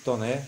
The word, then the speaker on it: Taunay: Pronuncia-se Toné, escreve-se Taunay.